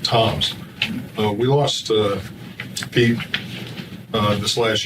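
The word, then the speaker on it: Tzomes: He spells his name T-Z-O-M-E-S, but he pronounces it Toms.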